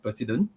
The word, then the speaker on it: Preceden: will talk about this president you know not u.s president but then he's just pronounced president so this is an